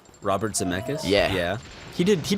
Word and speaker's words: Robert Zemeckis: there he worked with Robert Zemeckis it's how you say it Robert Zemeckis yeah yeah he did